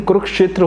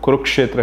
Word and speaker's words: कुरुक्षेत्र: कुरुक्षेत्र तो नहीं, कुरुक्षेत्र होता है, ठीक है। पहली बात तो वो कुरुक्षेत्र है।